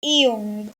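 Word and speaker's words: 이응: Then the next letter is Iung, the circle consonant. At the top, it makes a at the top it is a silent letter, and at the bottom it makes a ng sound, ang, just like in bang.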